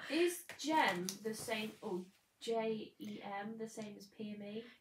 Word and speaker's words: Jem: Is Jem the same, or J-E-M the same as PME? You said it right the first time.